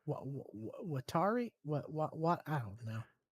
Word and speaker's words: Watari: know how to say watari what what I don't know w a t a r i it's it's two two letters at the time are pronounced Watari.